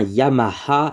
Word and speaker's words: Yamaha: ça se prononce bien Yamaha le H en japonais se prononce vraiment ha c'est vraiment ha hi